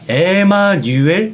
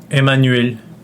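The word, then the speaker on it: Emmanuel: 분들 따라 주셨으면 좋겠는데 입모양은 우 입모양은 우하고 쭉 뺀 다음에 소리는이라고 내셔야 돼요 그러니까 유 유요 소리입니다 에마누엘 티 이게 프랑스인들을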